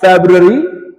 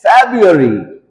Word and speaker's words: February: It's not February, it's February. February.